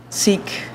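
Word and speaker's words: Sikh: solidarity with uh our seek or sick depending on how you pronounce it uh fellow houstonians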